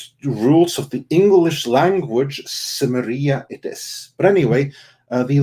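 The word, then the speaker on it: Cimmeria: hate in my mind it has always been chemeria that's how it's pronounced how you're supposed to say it that's how coleman would say it but due to the rules of the english language samaria it is but anyway the location of samaria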